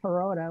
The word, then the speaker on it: parota: How do you spell that, Scott? Parota. Oh, I'd call it Peroda.